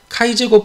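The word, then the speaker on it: χ²: 이것이 자유도 n-1인 카이 제곱 분포, 요거 x가 아니라 카이 제곱이라고 읽어요. 카이 제곱 분포, 카이 스퀘어 분포를 따른다.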